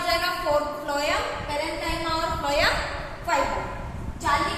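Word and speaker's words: phloem: Food बनाती है, और फ्लोएम हालांकि स्पेलिंग पी से शुरू होती है फ्लोएम की, फिर भी एफ आ रहा है, तो फूड एफ, इसको कनेक्ट करके आप याद रख सकते हैं।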